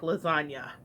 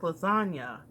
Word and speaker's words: lasagna: move in silence like lasagna so what he's a ludic to is the fact that the G in lasagna is silent and yet it is